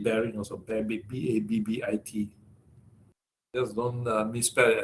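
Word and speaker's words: Babbitt: Or you want to call it bare-bit bearing also, bare-bit, B-A-B-B-I-T. Just don't misspell it as rabbit, okay?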